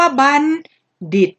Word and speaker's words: บัณฑิต: ปริญญา เรา เรียก ว่า บัน ดิด นะ คะ คำ ว่า บัณฑิต ดิบ เขียน ด้วย ตัว ทอ นาง มณโฑ ค่ะ แต่ เวลา ออก เสียง ออก เสียง เป็น เสียง เดอะบัณฑิต นี้ นะ คะ บัณฑิต